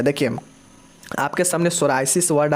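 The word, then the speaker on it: psoriasis: दोस्तों सोराइसिस क्या होता है, देखिए बहुत लोग इसको पढ़ेंगे पी सोराइसिस नहीं होता है, पी साइलेंट होता है।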